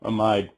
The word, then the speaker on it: amide: long one pido ethanol amide or amid depending on how you say it but pea is a